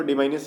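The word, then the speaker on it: diminish: डिमाइनिस का मतलब क्या होता है, इसको कुछ लोग डाइमिनिस पढ़ते हैं, बट मेरे अकॉर्डिंग इसको डिमाइनिस ही पढ़ना चाहिए, सही सही प्रोनाउंसिएशन होगा।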